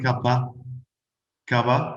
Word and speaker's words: cup of coffee: they are beautiful a cup of coffee and some native to speak for your own information we only pronounce instead of off like an a so do you want a kappa kava do you want a